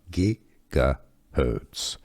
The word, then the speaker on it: gigahertz: pronunciation how to pronounce gigahertz yes the G is not soft it's hard gigahertz gigahertz unit electricity English pronunciation how